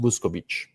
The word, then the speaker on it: Vuskovic: Well, because people who know what they're talking about have heard the name, and so they know it's pronounced Vuskovic.